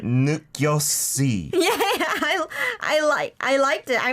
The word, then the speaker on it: 느꼈지: So the shiod She at the said bottom 느꼈지? here. Yeah, it's not pronounced as the S because there's not an iung next to it, right?